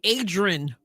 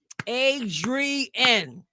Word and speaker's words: Adrienne: I can't stand when people call me Adrian. I used to have the I used to have my Sunday school kids clap. Adrien, there are three syllables in my name.